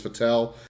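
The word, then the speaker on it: Fettel: man she played as fatel and yes I say fatel because Paxton fettle sounds stupid uh so no matter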